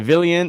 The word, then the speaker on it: Villian: Okay, Villian is pronounced like a million.